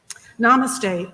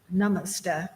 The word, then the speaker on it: Namaste: Namaste, or Namaste, depending on your pronunciation, means I bow or bend to you.